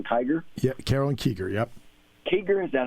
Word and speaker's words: Kiger: Kiger, is that how you pronounce it?